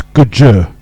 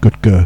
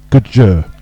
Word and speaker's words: Goodger: So just a tweet from Rich E, and he said it's Goodger, not Goodger, so it's Goodger. Goodger is how you pronounce it, like the fish gudgeon.